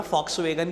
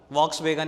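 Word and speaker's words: Volkswagen: क्यों बोल रहा हूं, फॉक्सवैगन ही है उसका नाम, वॉक्सवैगन नहीं होता। लिखते वी हैं, जर्मन कंपनी है, जर्मन कंपनी मतलब वी को वहां पर हम एफ प्रोनाउंस करते हैं। Correct word is फॉक्सवैगन नॉट वॉक्सवैगन।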